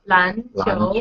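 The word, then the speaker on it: 篮球: So it's yeah both are second tone, right? yeah Lan 篮 qiu.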